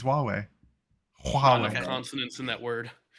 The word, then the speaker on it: Huawei: yeah Huawei big words no that's literally how it's pronounced it's Huawei wow consonance in that